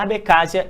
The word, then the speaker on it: Abcásia: A Abcásia, a gente pode pronunciar assim, a Abcásia e a Odisseia do Sul buscam independência da Geórgia e são amplamente apoiadas pela Rússia.